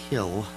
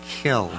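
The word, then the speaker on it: kiln: a Kil or a kill as it's known to hardcore Potter people oh is that right I never knew pronounced kill oh so you don't you drop the N yeah I know it's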